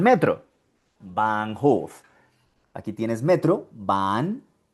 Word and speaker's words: Bahn: Aquí también ves de nuevo la H seguida de una N. Bahn. Bahn.